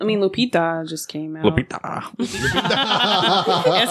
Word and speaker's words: Lupita: Lupita.